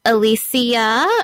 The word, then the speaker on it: Alicia: because a lot of people they actually mispronounce my name it's pronounced Alicia um so that's one